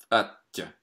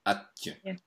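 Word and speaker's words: аттьӧ: Atja. Atja. It sounds very much like adieu, like the French word for goodbye, adieu. Atje.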